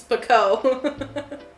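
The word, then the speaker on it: Pekoe: It's Pico. I am going to pronounce it wrong forever.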